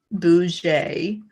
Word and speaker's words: boujee: daughter uses that term you pronounce it boujee like fancy okay something new for